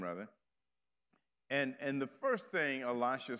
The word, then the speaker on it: Elisha: to pronounce the word Elisha. I just do it. Probably the closest and most correct pronunciation is Elisha, meaning the El part of his name, meaning God, and then Elisha.